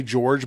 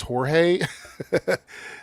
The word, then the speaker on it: Jorge: And I I want to say this in the English way, George, but it's Jorge.